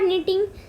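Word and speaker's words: knitting: फिर उससे हम लोग का यार्न बनता है, और यार्न से मेन जो तरीके हैं वो है वीविंग और निटिंग। के साइलेंट है, याद रखिएगा।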